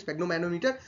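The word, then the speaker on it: sphygmomanometer: क्या बोलते हैं स्पेगमो मैनोमीटर? तो यहां पे आंसर हो जाएगा स्पेलिंग लिख लीजिए।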